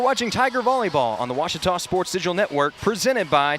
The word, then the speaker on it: Ouachita: I've heard people say Ouachita. Wichita. Ouachita. Ouachita. Is it pronounced Ouachita? Searching for Ouachita Baptist University. Back in Texas, everybody pronounces it Wichita, but really, it's Ouachita.